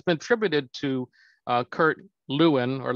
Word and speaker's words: Lewin: change refreeze and it's been attributed to kurt lewin or levine as actually pronounced um and or and but if you